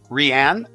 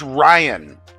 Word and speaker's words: Ryan: money we're talking Millions upon millions of dollars ran I'm sorry if I've been pronouncing it wrong oh you uh oh it's it's Ryan oh wellow nice to meet you Ryan I